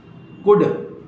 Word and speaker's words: could: कुड, कुल्ड नहीं बोला जाता है, कुड, COULD, हाफ, HALL नहीं बोला जाएगा, हाफ।